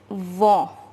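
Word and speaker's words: vont: ill and the conjugation is vo which means to go this is written here the last word will be silent now our last subject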